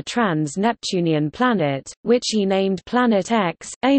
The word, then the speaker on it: Planet X: The X in the name represents an unknown and is pronounced as the letter, as opposed to the Roman numeral for 10.